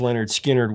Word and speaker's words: Lynyrd Skynyrd: would also be some more lineup changes before pronounced Leonard skinnard was completed actually the official roster for the